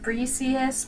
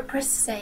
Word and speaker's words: Briseis: some people pronounce it breesius but that's kind of weird sounding makes you squish your face up a little bit so I prefer press say yes it's pretty and flowy so yeah you